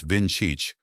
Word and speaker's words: Vinčić: The Slovenian referee, Slavko Vinčić, pronounced Vin-chich, was in charge.